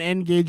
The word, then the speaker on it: N-Gage: measure exactly it's uh it's like engage not yeah whatever no